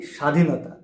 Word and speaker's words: স্বাধীনতা: বফলা উচ্চারণের প্রথম যে নিয়ম এই নিয়মটা হচ্ছে শব্দের শুরুতে যদি বফলা থাকে তাহলে সেই বফলা উচ্চারিত হয় না। কেমন? স্বাধীনতা, স্বামী, তক, জ্বালা, স্বদেশ এই শব্দগুলোর শুরুতে কিন্তু বফালা আছে।